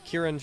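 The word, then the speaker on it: Kirin: Robes of a Kieran acolyte, and Kieran is spelled K-I-R-I-N.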